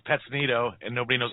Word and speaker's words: Petonito: Exactly why I call myself, because it's Petonito and nobody knows how to pronounce it.